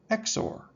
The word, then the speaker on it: XOR: a rule that divides the message in half and then combines the two halves in an exclusive or operation often written as XOR and pronounced exor.